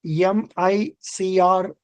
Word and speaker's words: MICR: banker Now please read M ICR code magnetic link character recognition MICR code pronounced mic as a ndigit number